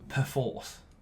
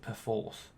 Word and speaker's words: Perforce: and by the way, they tell me it's called Perforce. That's how you're supposed to pronounce it, Perforce, which sounds just a bit posh and pants to me.